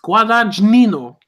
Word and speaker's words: Guadagnino: I can't pronounce his last name. It's Guadagnino. Okay.